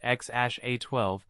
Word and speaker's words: X Æ A-12: Frenzy online even though musk and Grimes said it was pronounced xash a12 many still didn't get